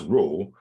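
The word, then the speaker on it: rho: So a correlation coefficient also written as it's pronounced row but it looks like an R.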